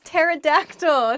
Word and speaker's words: pterodactyl: one let's get started the first word is pterodactyl pterodactyl is a dinosaur this was a flying